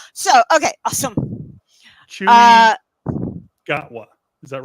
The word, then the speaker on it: Gatwa: Chewy Uh, Gatwa. Is that right? Chewy Gatwa. Is that the correct pronunciation?